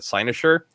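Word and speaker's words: cynosure: share is I I come across this word sinosure it's spelled c y n o s u r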